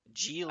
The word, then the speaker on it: Ghislaine: G Lane. Um Ghislaine G Lane. That's how you pronounce it, apparently.